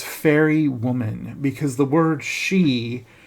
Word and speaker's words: Sidhe: woman, because the word she, spelled Sidhe, Celtic Irish language is a very interesting language because nothing ever looks the way it's pronounced.